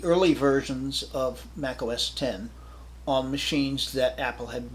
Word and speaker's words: OS X: Then of course 10 post facto, which many people today pronounce X post facto, but I lived through the introduction of OS 10, so yeah, OS X doesn't exist for me, which allowed you to